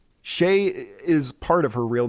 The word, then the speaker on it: Shée: a normal human name so my nickname is shea and shea is spelled s-h-e-e with an accent over the first e yeah it is shae